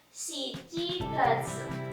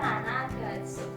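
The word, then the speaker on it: 七月: Tapi untuk bulan Juli dibacanya shichigatsu, bukan nanagatsu, tapi shichigatsu.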